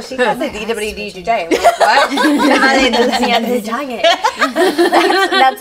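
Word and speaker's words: Dilwale Dulhania Le Jayenge: Dale dulhania le jayenge. That's how you say it. Dale dulhania le jayenge.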